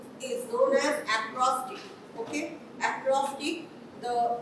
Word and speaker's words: acrostic: as as acrostic is known as acrostic okay acrostic the pronunciation is different and the spelling is also